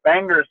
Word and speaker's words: Bangor: they play in downtown Bangor as the locals we pronounce it at the bangers Civic Center and it's